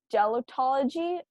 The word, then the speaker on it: gelotology: It's called gelotology. Gelotology. I'm not sure if I'm pronouncing that right, but I'll spell it out.